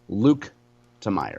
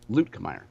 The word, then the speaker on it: Luetkemeyer: in Missouri politics is people calling Blaine Luetkemeyer Blaine Luke Temeyer.